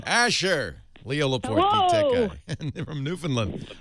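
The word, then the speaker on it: Newfoundland: New Finland you put it's kind of like new fin land you put you put the emphasis on the land and you put less emphasis on the uh I would say New Finland but it's New Finland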